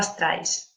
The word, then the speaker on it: Streich: E hoje, nossa ponente principal é Streich. ¿He pronunciado bem? Streich? Más o menos, es Streich, es alemán.